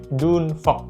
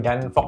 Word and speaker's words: Dune Fox: Ya, Dunfog. Bacanya bukan Danfog ya, tapi Dunfog.